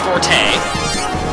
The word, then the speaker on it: Forte: playing that planet yes this is pronounced Forte because it's named after the uh musical term Forte is pretty hard to